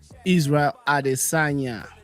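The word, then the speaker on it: Israel Adesanya: Is it Israel Adosa? Am I pronouncing that right? Israel Adisagna.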